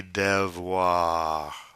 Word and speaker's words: devoirs: Then we have les devoirs. Devoir, voir, devoir. Now notice that S is silent.